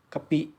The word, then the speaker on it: กะปิ: นะ ครับนี่ นะ ครับ กะปิ เปิด ฝา ใหม่ ๆ เลย นะ ครับ ท่าน ผู้ ชม นี่ อ่าน ว่า กะปิ นะ ครับ ไม่ ใช่ กะปิ นะ